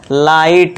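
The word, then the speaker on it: light: Plus में देखिए दोस्तों ये जो जी एच है ये हमेशा साइलेंट रहेंगे। ये ध्यान देना है। तो हम जी इसको भूल जाएंगे टी का साउंड देंगे। जैसे लाइट अब ये कैसे बना है देखिए कैसे बना। अब एल क्रिया हमने कर दिया ल। इसके बाद आई तो बस फिर आ का साउंड लगा दिया। इसके बाद जीएस टी को जी एच को भूल जाओ।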